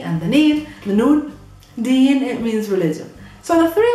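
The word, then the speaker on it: دِين: to change the vowels, remove the short a, and just continue pronouncing and reading all the letters normally. The d, the long e, and the neen, the noon. Deen, it means religion.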